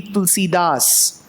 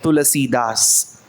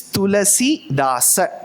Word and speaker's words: Tulasi Dasa: Shouldn't be Tulsi Das. If you are conscious of speaking in Hindi, yes, you are right, Tulasi Das. Whereas when you come from the Sanskritam perspective, you will have to pronounce the last aksharam.